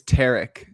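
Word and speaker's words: Tarik: I think it's Tarek, like Derek.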